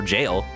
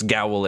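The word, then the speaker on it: gaol: Another thing I learned is that Gowl is actually just the old spelling for jail, and is pronounced as such still.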